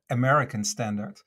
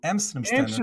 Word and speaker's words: Amsterdam Standard: made a very funny introduction there because you pronounced it as American Standard and my company's called Amsterdam standard amdam standard fny but the funny thing is